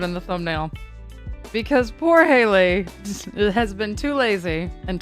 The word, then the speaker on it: Haley: doing oh Hadley yes my name is Haley not Hadley and I will